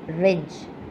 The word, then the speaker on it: wrench: Number six, wrench. Here also W is the silent letter.